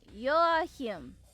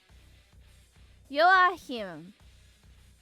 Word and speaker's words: Joachim: Oh, Joachim. Joachim. So the J is silent. So, and it's a Y. Joachim. And the C is silent.